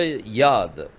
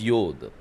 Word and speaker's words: yod: the first letter Yad nowadays they pronounce it as yod in the ancient Hebrew they were pronounciating as Yad Yad means hand but nowadays see the pronunciation changes so now they pronounce it as yod and some people have they have started pronouncing it as yud also why yud so